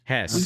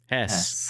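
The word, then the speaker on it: Höss: It is surrounding the, I believe it's spelled Hoss, but it is in the, how do you pronounce it? Hess. We're going to say huh. Hess. Hess.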